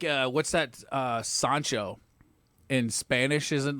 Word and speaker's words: Sancho: call the guy uh well in Spanish it's soncho but in your case it's